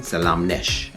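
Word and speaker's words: ሰላም ነሽ: You would say salam to a man, or salam no to a man. To a woman, Salamnesh.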